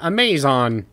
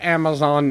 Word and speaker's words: Amazon: minute and a half of the video kept pronouncing amazon amazed on and he was like and if you're wondering